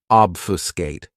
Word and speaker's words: obfuscate: This verb has three syllables and the stress is on that first syllable. Obfuscate.